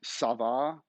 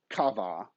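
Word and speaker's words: ça: that in french because that tells you the difference between a hard c and a soft c up most of the time right so you know if you say sava it's c with the dangly thing on it not kava which would be i don't know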